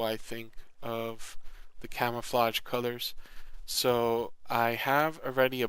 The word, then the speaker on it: Kuler: I think it's actually Color, but it's spelled Kuler.